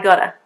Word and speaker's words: gotta: to I gotta, I gotta. But listen very carefully. Although it is G-O-T-T-A, the T actually, when I speak quite fast, is more of a D sound.